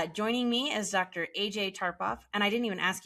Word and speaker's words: Tarpoff: So yes, AJ Tarpoff. I know it looks a little different, but it is easy to pronounce.